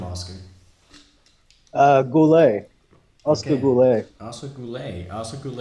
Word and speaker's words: Goullet: how do you say your last name Oscar Goulet Oscar brulee I'm so cool a are so